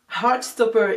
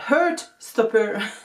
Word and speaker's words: Heartstopper: Heartstopper et pas Heartstopper, non c'est le petit cœur, Heart.